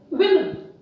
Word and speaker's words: women: People generally pronounce it wrongly as woman. They look at the word and the letter A and they think that the pronunciation can be woman. No, it's wrong. The correct pronunciation is women.